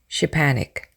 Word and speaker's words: Szczepanik: bread is baked, or the difficult name of the inventor, Szczepanik, pronounced nearly Szczepanik, by thinking of a